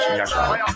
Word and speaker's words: Yasharahla: Yashar Allah is how you say Israel or Israelite in the correct language. Yashar Allah.